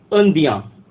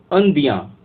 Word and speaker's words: indien: तो ऐसे ही अगर कोई पुरुष है, अगर वो बोलता है मैं इंडियन हूँ, तो वो फ्रेंच में बोलेगा अंदियाँ। अंदियाँ, EINDIEN, अंदियाँ। तो ऐसे ही अगर कोई